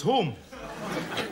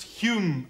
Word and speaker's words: Home: I get him confused with Alec Douglas Home. It's pronounced Hume, actually.